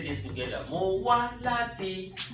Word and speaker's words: láti: Mo wá láti. Mo, neutral, nothing there. Wá, up. La, up. Ti, neutral.